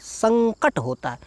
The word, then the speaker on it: संकट: तो उच्चारण करके देखिए संकट संकट में न नहीं आ रहा अंग आ रहा है इसमें पंचमा अक्षर